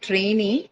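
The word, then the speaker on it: trainee: So in a word like trainy although it's a dicelabic word uh noun and it should be ideally on the first syllable you shift the stress to the second syllable because that syllable carries a long vowel e right same goes for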